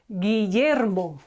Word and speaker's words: Guillermo: A Spanish name for William is Guillermo. Guillermo. We have U between G and I, and we do not pronounce it.